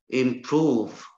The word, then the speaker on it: improve: Improve. It is a verb, so it's stressed on the second syllable.